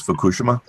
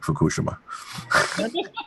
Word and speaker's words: Fukushima: after Fukushima and the pr correct pronunciation is Fukushima uh the Japanese whisper the IMA um the uh I'm it's not my houra accent that I'm saying Fukushima hey snork I've got